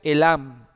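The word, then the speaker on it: אלם: La palabra enmudecer se pronuncia elam en hebreo. Se escribe con la alef, la lamet y la men.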